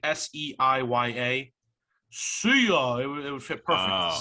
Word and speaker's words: Seiya: It's spelled that way. It's like Seiya.